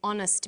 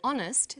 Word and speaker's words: honest: happy man but an honest man the h is not pronounced so honest sounds like it starts with a vowel and where the value